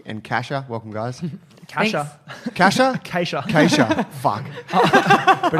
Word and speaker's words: Keesja: Kasha? Kasha. Kasha. Fuck. I But have it's to spelled with 2 I have to E's.